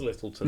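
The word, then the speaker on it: Lyttelton: Yeah, the Littleton. Is it? If you're pronouncing it Littleton. It Littleton. is Littleton.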